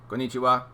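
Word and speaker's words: こんにちは: Oh, konnichiwa. Yes, it's all the same emphasis. Konnichiwa. Every syllable has the same emphasis. No getting excited about it.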